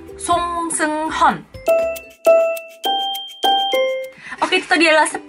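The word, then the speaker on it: 송승헌: Ada juga aktor Song Seung-hun, bukan Song Seung-hun. Memang nama dia ada yang nulis Song Seung-hun, ada yang nulis Song Seung-hyeon gitu kan. Tapi yang benar bacanya adalah Song Seung-hun.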